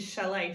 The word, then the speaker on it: chalet: diagraph making this sound but also the et graph which is French making the a sound can you teach it